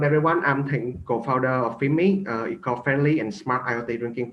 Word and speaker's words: Finme: So next up is, I'm sorry, I'm pronouncing it Finme, but I think it's not quite correct. You know who you are, I hope? Yes, it's pronounced Finme.